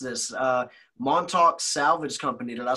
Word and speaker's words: Montauk: And sorry if I mispronounced this. Montauk Salvage Company. Did I say that right? Yeah, that's right. Montauk.